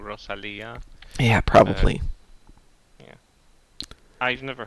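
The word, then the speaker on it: Rosalía: Well, in America we'd say Rosalia, but I don't know how you say it anyplace else. Spanish, so I'm thinking she probably has a Spanish pronunciation of it, which would have been Rosalia.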